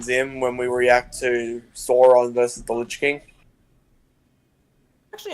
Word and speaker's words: Sauron: no, is that how you pronounce it? Sauron? Yeah, it's Sauron. I thought it was It's Sauron. always been. Well, I've heard different, but Sauron seems to be the Sauron seems to be the one that consistently is what people go with.